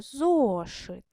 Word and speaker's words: зошит: Промовте слово зошит. Зошит. Зо. Перший склад гучніше.